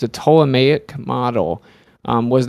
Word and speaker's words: Ptolemaic: Earth was flat um there the p is silent of course but yeah it's a ptolemaic model was not widely